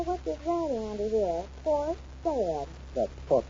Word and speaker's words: Port Said: Port Said. That's Port Said. What? Port Said. S-A-I-D. It's pronounced Said.